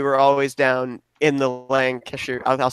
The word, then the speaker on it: Lancashire: Whenever we'd go down to Pennsylvania, though, we were always down in the Lancashire. I'll say it the right way, Lancashire area.